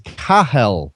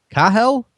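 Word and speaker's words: Cathal: show and I'm a apparently I'm pronouncing Mr Kelly's name incorrectly Mr Kelly from the Toronto Star is kahal kahal kahal Kelly that's what I'm told it's not a name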